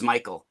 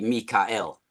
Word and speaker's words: Michael: age of Archangel Michael we actually mispronounce Michael it's supposed to be Mikael that that word and